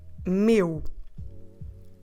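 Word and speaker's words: meu: Portuguese that word is the word Mew Mew how do we spell it m e if you still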